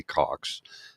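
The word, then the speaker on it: Cocks: used to know and his name is Wesley Cox his family immigrated here from the UK and it's spelled c-o-c-k-s and when he was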